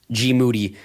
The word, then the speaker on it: Moody: Podcast co-host of the year, G. Moody, whose last name also rhymes with duty, Right.